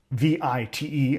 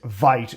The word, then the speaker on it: Vite: is we're going to run mpm create vit vi t. I know if you speak English that is vite to you, but it's pronounced vit anyways.